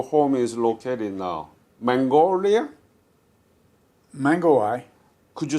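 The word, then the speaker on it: Mangawhai: Mangawai. Could you spell it? M-A-N-G. M-I? M-A-N-G. A-W-H-A-I. I-W-H-I-I. No. M-A-N-G. Yeah, A. yeah, W. yeah, H. yeah. A. A. I. I. So Mingihai. Mangawai.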